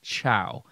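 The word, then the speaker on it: Chao: Maybe it's a name, I don't know, but I heard chow, but it was spelled C-H-A-O, not C-H-O-W or C-H-O-A or something like that. I don't know. But that's what I heard was chow, but it wasn't spelled like we spell chow, like C-H-O-W.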